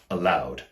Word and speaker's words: aloud: The next example is the word aloud, A-L-O-U-D. For example, he read the letter to me aloud, which is the exact same pronunciation as the word allowed, A-L-L-O-W-E-D.